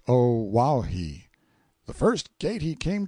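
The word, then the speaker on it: Oahu: i named him after this island o'ahu pronounced oh wow he the first gate he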